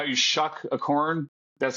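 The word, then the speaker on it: Shough: Just think, you know how you shuck a corn? That's how you say it, right? Tyler Shuck. Tyler Shuck. Tyler Shuck.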